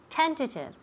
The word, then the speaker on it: tentative: okay very good tentative tentative now pay attention to where we put the emphasis it's on the first syllable tentative tentative i have